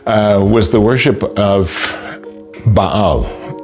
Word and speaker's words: Baal: was the worship of Baal Bale as they would say in America but the real pronunciation is Baal.